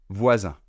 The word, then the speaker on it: voisin: Donc pour faire cette voyelle nasale, vous faites un peu comme le son E, E accent grave, E, mais vous essayez de le faire vibrer un peu plus au niveau du nez. Au lieu de faire E, vous faites plutôt 1, 1.